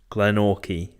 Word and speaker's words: Glenorchy: Okay, so it's Glenorchy.